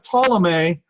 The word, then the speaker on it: Ptolemy: And a guy by the name of Ptolemy, the P here is silent, so you know what?